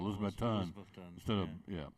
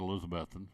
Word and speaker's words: Elizabethton: He didn't put the emphasis on Elizabethton. Yeah, he said Elizabethton instead of Elizabethton. He put the emphasis on the last syllable, and it obviously was wrong.